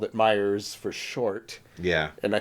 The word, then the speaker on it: Meijers: so it was called Meijers with an S. Point. Oh, so we're just old school. And I think maybe, our parents had always just called it Meijers for short.